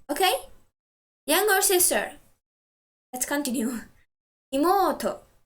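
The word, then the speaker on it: いもうと: Imoto. Stress the syllable mo.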